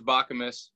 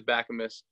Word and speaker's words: Bakamus: ran back on it okay but everybody says Baca miss back you miss Bok you miss but it is back a Miss I'll remember that I understand your dilemma so